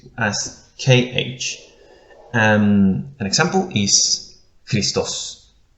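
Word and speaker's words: Χριστός: An example is Christos. Christos. It sounds Ch, as in school. Ch, Christos.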